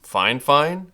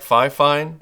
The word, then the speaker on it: FiFine: me how to pronounce the company name which is fine fine apparently though it looks like fi fine and also making sure